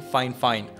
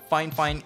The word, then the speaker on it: Fifine: actually meant to be fine fine instead of fine it's almost like how you should pronounce porsche instead of posh so yeah keep that